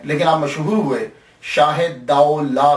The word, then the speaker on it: Daulah: ये लफ्ज प्रोनाउंसिएशन दाऊ ला है। दूल्हा नहीं है। ये सबसे पहले याद रख लीजिएगा कि ये दाऊ ला है। दाल ज़बर वा साकिन दाऊ और लाम अलिफ ला है।